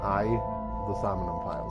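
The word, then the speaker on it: AI: The Somnium Files: playing this is called i the summoning files it's not actually ai it's pronounced i the samonium file so this is a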